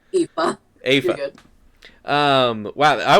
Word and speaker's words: Aoife: has locked up the town busker friend of Aofi. I'm gonna have to learn how to pronounce that, aren't I? Aoife.